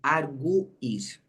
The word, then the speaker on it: arguir: tudo porque olha só arguir né é um verbo que que tem o aqui a gente pronunci o arguir muito bem então quando a gente pronuncia el argui o u fica forte certo o u fica